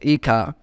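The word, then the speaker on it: hija: in Spanish pronounced as Ika by applying the same two rules of pronouncing word and a Spanish that is H is silent and J is pronounced as k h so it is written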